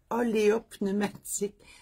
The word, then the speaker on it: oléopneumatique: Ah oui, moi, j'ai une suspension oléopneumatique. Pneumatique, on comprend, mais olé. C'est comme bizarre. Et comment on prononce olé? Tu sais, olé, ça commence fêtif, puis pneumatique.